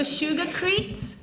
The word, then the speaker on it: sugarcrete: So so sugarcrete rhymes with concrete.